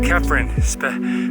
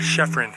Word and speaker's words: Chephren: mountain though between pyramid and kefran and it's kafrin pronounced with a k not chefrin everybody calls it shepherd though long boulder field